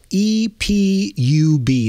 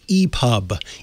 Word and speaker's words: EPUB: you should be using is called dot e-p-u-b that's e-pub e-pub format epub is a as